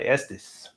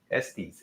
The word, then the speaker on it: Estes: Big new release by Estus. Estes. Estus. I'll pronounce it both ways.